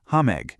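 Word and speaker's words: համեղ: The word for delicious is hame, pronounced hame.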